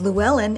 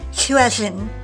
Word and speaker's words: Llywelyn: And for even more double L fun, the last name we pronounce as Llewellyn in America is pronounced Llywelyn in Wales.